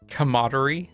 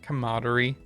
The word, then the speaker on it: camaraderie: It is at that this moment of uh commodery. Yeah, camaraderie, right? I guess it would be camaraderie. I'm used to being spelled without the a between the M and R as camaraderie.